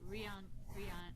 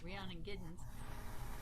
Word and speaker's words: Rhiannon Giddens: how i got to that yeah intro to rihanna i'd never say her name right rayon getting something rhiannon giddens she talks about how cotton was pete seeger's